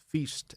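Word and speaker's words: FEESST: He's the inventor and developer of the endoscopic air pulse laryngeal sensory testing technology, which is known as, I believe the correct pronunciation is FEEST, F-E-E-S-S-T.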